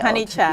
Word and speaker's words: Honeychild: Am I pronouncing her name correctly? Chikava Honeychild. Honeychild.